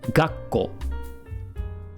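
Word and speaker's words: がっこう: It's going to sound like I'm holding the tone here before I continue, right? There's a little bit of a pause. So this one's going to sound like gakkou.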